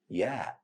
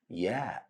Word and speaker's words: ي: It has equivalent sound of letter Y in the word yellow. Repeat after me. Ya. Ya.